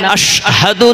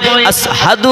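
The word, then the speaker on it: أشهد: আশহাদু না হয়ে আসহাদু হয়। কারণ মোটা আছে হুজুর গো আপনার নাম উচ্চারণ করতে গিয়ে আশাহাদু বলে ফেলেছেন আশহাদু বলতে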